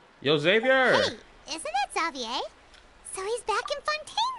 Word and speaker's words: Xavier: Xavier hey isn't that zavier so he's back in fontain now zavier is how they pronounce his name zavier I'm still find